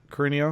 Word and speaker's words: Carino: Is that how I pronounce it, Carino? Yeah, you actually pronounced it correct.